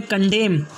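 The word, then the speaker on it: condemn: जैसे कि first word है इसके अंदर ऑटम, फिर उसके बाद में कंडेम, उसके बाद में है कॉलम, इन सब में एन को नहीं पढ़ा जाएगा।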